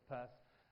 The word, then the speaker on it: Peirce: That particular name, Peirce, okay, it's written differently, I know, but he pronounces it as Peirce.